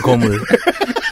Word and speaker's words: 거물: 지금까지 최고 고물 아니에요? 고물이라고요? 거물. 발음 똑바로 하세요.